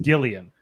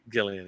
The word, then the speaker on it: Gillian: i'm thinking of jillian anderson yeah this is jillian jacobs this is uh and actually it's pronounced gillian gillian yes so it's like i'm sorry i britted